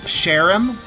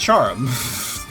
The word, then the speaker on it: Charm: By the way, there's an awful lot of people that say my name is Sherim. Sherim. Or there's even some that say Cherum. Cherum. It's Charm. I don't know where all these E's are coming from.